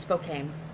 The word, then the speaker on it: Spokane: It's gonna be Spokane. I don't know how to say it. Spokane? It's Spokane. Spokane.